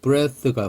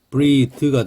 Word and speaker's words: breathe: breath가 호흡이죠. 그것도 breath입니다. 근데 여기다 e를 붙이면 breathe가 됩니다. breathe. 그래서 breath, 요건 breathe. 발음이 바뀌어요.